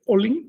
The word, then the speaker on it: Olin: En agua se dice olin, se pronuncia con una sola L.